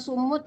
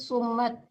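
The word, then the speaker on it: الصم: Bukan sumut ya, tapi sumat. Jadi salah baca mimnya.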